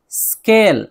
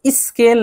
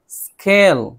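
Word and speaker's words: school: स्केल, स्केल, scarf, scarf, score, score. Score पूरा नहीं, हल्का सा स की आवाज निकालेंगे तो आधा हो जाएगा। इसी तरह स्कूल नहीं, स्कूल, स्कूल, स से शुरू करें, स्कूल।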